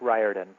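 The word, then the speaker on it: Riordan: but now I will never forget how to pronounce it. Hi, my name is Rick Ryarden.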